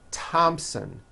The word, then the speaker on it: Thompson: Although these next words and names are spelled with a TH, they are pronounced as if they were spelled with a normal T, like that.